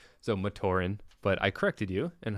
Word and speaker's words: Matoran: Madoran. So Matoran, but I corrected you.